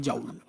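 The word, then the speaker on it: Joule: है, वो बनती है जाउल। कोई जूल भी बोलता है भाई, लेकिन इसकी सही प्रोनाउंसिएशन जाउल ही होती है।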